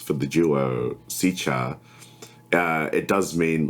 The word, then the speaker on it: TZECHAR: I mean, there is a proper pronunciation, which is TZECHAR, and that's how we pronounce it here.